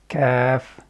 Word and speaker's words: ك: It is one of the light letters, because when we are pronouncing it, our mouth or the lips remain in the state of flatness, or as if we are going to start smiling. For example, Kaaf, Kaaf, ak, ak, Kaaf, ak.